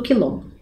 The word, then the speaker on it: Quilombo: pensar lá um pouquinho é uma consoante que vem sempre acompanhada da vogal u então ao escrever a letra q automaticamente eu preciso escrever a vogal u percebam lá ó Quilombo vem o q u u e uma outra vogal para dar o som né de k o mesmo acontece em